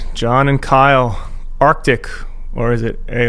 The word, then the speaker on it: ARKTK: because people are it's it is Arctic by the way it's Arctic coldwar but there is a